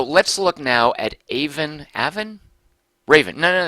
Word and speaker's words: Aven: look now at aan Aven Raven no no no they said in their fact it rhymes with Raven so this is aan